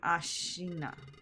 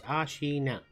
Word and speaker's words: Ashina: I am Ashina. Three syllables, Ashina.